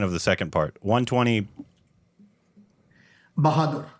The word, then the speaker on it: Bahadur: And help me with the pronunciation of the second part. 120. Bahadur. Bahadur.